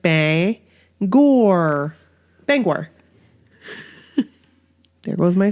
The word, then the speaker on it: Bangor: and like Bangor exactly it's not Bangor no not Bangor its Bangor like Bay and like like Bay Gore Bank were it was